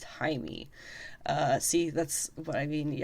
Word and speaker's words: Jaime: of Reyes' as well, Jaime. And yes, it is spelled with a J, but it is pronounced Jaime.